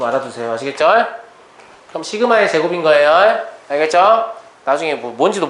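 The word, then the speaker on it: Σ: 이렇게 U자를 좀 찌그러진 모양인데, 얘를 뭐라고 읽냐면, 시그마라고 읽어요.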